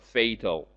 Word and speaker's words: fatal: adjective form is fatal please uh note the difference in pronunciation between the noun and adjective forms fatality but fatal fatal resulting in somebody's